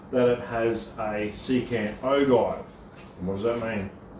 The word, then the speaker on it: ogive: Let us know in the comments below if it's ogive or ogive. But how are you going to do it when it's spelt the same? If it was ogive, it'd have a J in it.